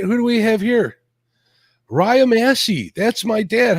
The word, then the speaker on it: Raya: Is that how you say her name, Raya? Yep, you got it. Most people will usually mispronounce it.